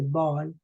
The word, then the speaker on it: Bâle: That's why we don't say, for example, the city Basel in French, we say Bâle, as we don't say Geneva, we say Genève, right?